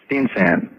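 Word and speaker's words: Steensen: You know, pronounce it for me. Steensan. Danish.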